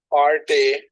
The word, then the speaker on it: party: Uh, Party. হ্যাঁ। এটা ফার্টি না, বলতে ফার্টি। ফা টি, হ্যাঁ। এই রটা, Party. রটা উচ্চারণ হবে না, রটা অনুচ্চারিত থাকবে।